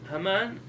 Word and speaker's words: Haman: Haman. That reminds me. That rhymes with stamen.